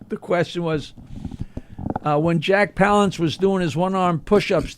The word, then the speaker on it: Palance: Is that how you say it? Palance? Yeah.